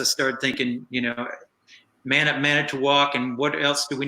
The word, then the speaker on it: Manitowoc: I just started thinking it's going to have to be something where it rhymes with walk, and that's going to have to be it.